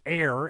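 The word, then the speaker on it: Ayr: so we were pretty close to AER AER pronounced AI a y r is air AI R and you put the emphasis on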